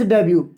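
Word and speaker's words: debut: डेब्यु डेढ make डेब्यु यह word मैं आपको बताना चाहूंगा एक प्रेत हमने रख डे ई एफ ब्यूरो और यहां पर लिखा मिनट यहां पर साइलेंट रहता है को अप्रूव नहीं करते को नहीं पढ़ा जाता मेक डेब्यु का मतलब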